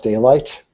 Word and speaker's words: Daylite: I use a software tool called Daylight, which is spelled Daylite, which is just your standard context database.